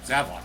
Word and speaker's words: Zavok: It's funny we brung that up, but technically they don't even pronounce. They never pronounce it as that. It's just I don't know why we thought that it was like that at first. It's pretty much just Zavok.